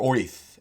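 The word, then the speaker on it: Oerth: Orth, pronounced Orth or Oith, is the world of Greyhawk.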